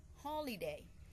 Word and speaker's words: holiday: her I say h holiday so the stret will put on the first Sy here the the the